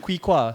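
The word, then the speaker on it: Quy Khoa: Kui Kwa.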